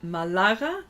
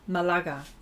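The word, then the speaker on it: Málaga: Malaga no Mala Mal the accent is on the second a so Malaga Malaga I think that's how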